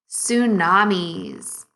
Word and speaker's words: tsunami: end here we go tsunamis second graders you might have noticed that there is a silent t at the beginning of the word tsunami what is a tsunami